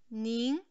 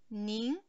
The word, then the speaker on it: 您: Io, 我 il terzo tono, 我 tu, 你 sempre il terzo, scende poi sale, 你 lei, 您 il secondo tono, 您 lui, 他 il primo, lei sempre, 他 hanno lo stesso suono.